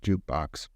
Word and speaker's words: JKBX: That's JKBX, but pronounced Jukebox.